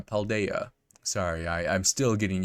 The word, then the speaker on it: Paldea: and some of the uh special Pokemon in Palladia paldea sorry I I'm still getting used to the pronunciation oh I think I have spotted it